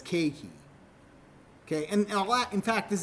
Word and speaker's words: keiki: The word keiki means child in Hawaiian, but E-I, as we hear of this, is A. So you don't pronounce it as ke-e-ki. You pronounce it as keiki.